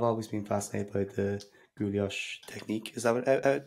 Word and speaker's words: guilloche: I've always been fascinated by the guilloche technique. Is that how you pronounce it?